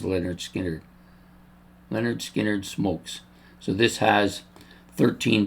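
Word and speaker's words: Lynyrd Skynyrd: Next up, this is the debut album of Leonard Skinner, pronounced Leonard Skinnard. I haven't listened to Leonard Skinnard since I started this channel.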